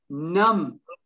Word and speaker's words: numb: Numb, silent B.